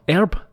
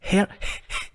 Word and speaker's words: herb: Herb. It's herb. There's an H in there. Herb. Herb. Herb like Herbie. It's like Herbie. It's not a silent H.